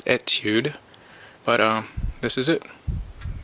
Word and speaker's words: Etude: This is called the Belomo Etude, or Etude. I believe the proper pronunciation is Etyude, but this is it.